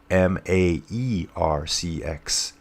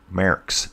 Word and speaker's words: Merckx: You got to put you almost got to slide like a little bit of an A in there. So when I think of Merckx now, I think of Maercx. Merckx. That's at least how I'm hearing it pronounced in an audiobook I'm listening to.